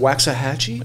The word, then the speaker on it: Waxahachie: Waxahachie?